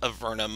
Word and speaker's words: Avernum: We pronounce it Avernum, other people pronounce it Avernum, and such and such.